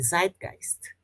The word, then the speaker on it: Zeitgeist: É assim que se pronuncia, Nicole, Zeitgeist.